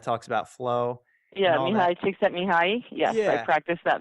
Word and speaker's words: Csikszentmihalyi: I really looked in a lot to, Martin Seligman and I can never pronounce his name, but Csikszentmihalyi, the guy that talks about flow. Yeah, Mihai Csikszentmihalyi.